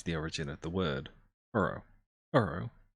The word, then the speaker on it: horo horo: origin of the word uro uro the japanese way of pronouncing the word hollow referring to the user's